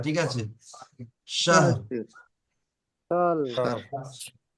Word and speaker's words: شهر: লাইলাতুল কদরি ليلة القدر খায়রুম ألف شهر শাহ ফি শাহর, লাস্টে রটা হালকা উচ্চারণ হবে, ঠিক আছে? শাহর, সাল শাহ শার বলবেন না, শাহর।